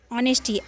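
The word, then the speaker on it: honesty: truthfulness मतलब सत्य सत्यनिष्ठा ऑनेस्टी एच ओ एन ई एस टी वाई ऑनेस्टी यहां पे ऑनेस्टी आगे हम लोग पढ़े हैं इसमें एच साइलेंट है ऑनेस्टी मतलब ईमानदारी काइंडनेस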